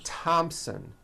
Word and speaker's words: Thompson: spelled with a th they are pronounced as if they were spelled with a normal T like that and these words are Thomas Thompson Teresa Thailand Thames like